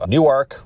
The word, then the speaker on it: Newark: If you've ever driven I-95 through the region, you know Elkton, you know Newark, which we know that's how you pronounce it.